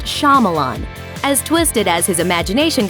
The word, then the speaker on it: Shyamalan: It might be tempting to insert the shy part of his name as it appears when it's spelled, but it's actually pronounced Shyamalan.